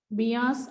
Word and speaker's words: Beas: So once again observe the pronunciation of these 5 names: Jhelum, Chenab, Ravi, Beas and Satluj.